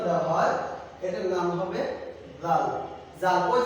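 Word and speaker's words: ذ: তো এখন ডালের উপরে যদি একটা নুক্তা দেওয়া হয় এটার নাম হবে জাল। জাল ওই যে সা যেমন ভাবে উচ্চারণ করেছি, জালরা ওভাবে উচ্চারণ, যেমন জিহ্বা দিয়ে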